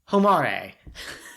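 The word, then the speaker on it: ほまれ: I always want to read her name like it rhymes with promare. Yeah, absolutely. Homare.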